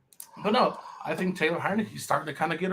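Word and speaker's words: Heinicke: Hey, I don't know why you guys keep pronouncing his last name wrong, but Because it's I Heineke. don't know. it's Heineke.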